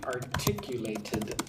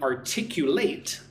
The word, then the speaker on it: articulate: She can articulate the problem well. Articulate, articulate. Right? Different pronunciation if it's a verb or an adjective.